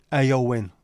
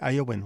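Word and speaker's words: Éowyn: pronounced Owen I would have thought it was pronounced Owen is a supremely powerful and feminine name of Old English origin horse lover lover of horses AO win all right sorry AO win what what a what a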